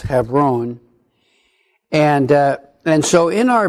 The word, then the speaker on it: Hebron: this heifer own region many of us in our English tradition call it Hebron Hebron is actually pronounced have roan and and so in